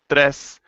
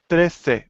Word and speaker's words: trece: For everyone, please notice that all the numbers from 11 to 15 end in e, and we have to pronounce that. It's not once, dos, tres. It's once, doce, trece. We need to hear that e at the end.